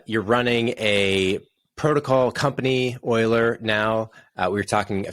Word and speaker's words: Euler: name just a really short short bit i pronounce it euler and it was named after a mathematician a